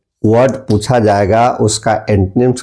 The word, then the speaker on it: antonyms: तो सबसे पहले हम देखते हैं कि एंटोनिम्स क्या है। ANTONYMS, इसको जनरली लोग एंटोनिम्स भी पढ़ देते हैं, या एंटोनिम्स नहीं है, इसको एंटोनिम्स पढ़ा जाता है। इसका सही प्रोनाउंसिएशन होगा एंटनिम्स, एंटनिम्स।